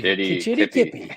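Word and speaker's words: Kitchiti-kipi: Kitchitty Kippy. Yeah. Kitchitty Kippy.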